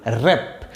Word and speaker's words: wrap: তাহলে WRAP উচ্চারণ কি হবে? র্যাপ। ডব্লিউ এর উচ্চারণ এখানে হবে না।